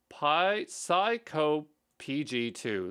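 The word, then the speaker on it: psycopg2: um PSI python COG it's Pi psycho pg2 that's probably how you say it it looks very similar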